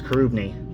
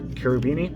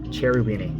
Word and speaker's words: Cherubini: carobini very good composer in that but it's kurubini or carobini it's not cherryweeny everyone pronounces the cherubini it's let's curve me oh